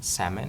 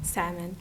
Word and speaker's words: salmon: actually it's like silent salmon salmon there's no l we don't have to pronounce l the L is silent so a lot of